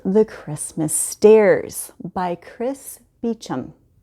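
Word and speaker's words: Beauchamp: This is called The Christmas Stairs by Chris Beecham. And Beecham is spelled weird, just so you know.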